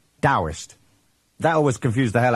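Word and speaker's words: Taoist: So it's written Tauist and pronounced with a D. Dowist.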